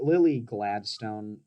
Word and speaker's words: Lily Gladstone: Making fun of my bullshit stuttering tendencies, but it's like Lily Gladstone. I did pronounce that right, right?